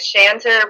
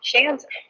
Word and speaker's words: Schanzer: And my last name is Schanzer, which rhymes with dancer and answer, so it's Schanzer.